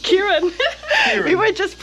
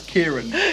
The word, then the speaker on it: Kieran: We were just saying that like the Dutch alphabet is so different than the English one, so I had troubles pronouncing your name. Yeah, it's Kieran. Yeah. That's for everyone that gets it wrong.